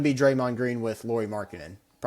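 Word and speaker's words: Markkanen: at trading for uh Markinel. I think that's how you say it from the Jazz. Yeah, Markin. Sorry, not Markinell.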